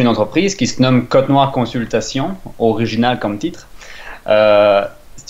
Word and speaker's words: Cotnoir: Est-ce que je le prononce bien? Oui, parfait. C'est aussi simple que ça, c'est Cotenoir.